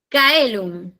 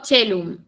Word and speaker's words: caelum: Luego, Kaelum, el la C en el latín clásico se pronuncia como C, perdón, como K. Eh, por ejemplo, en este caso Kaelum eh lo pronunció como Kaelum con K. En cambio, en el latín eclesiástico, esta c se pronuncia como una che. Entonces, eh, digo chelum en vez de caelum.